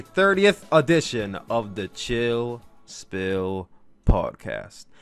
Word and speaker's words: Spill: edition of the Chill Spill Podcast. The S is silent, by the way.